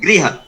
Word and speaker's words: गृह: देखिए दो शब्द हैं, ये गृह हो गया होम, हाँ। और एक हो गया गा के अंदर र लगा हुआ ग्रह। हाँ। तो वो ग्रह हो गया हमारा प्लेनेट। जी जी। तो जब हम बोलेंगे तो हमारा बिल्कुल स्पष्ट उच्चारण होना चाहिए ग्रह।